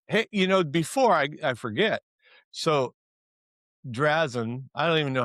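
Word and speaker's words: Drazan: the tide, hey, before I forget, so Drazen, I don't even know how to say her name.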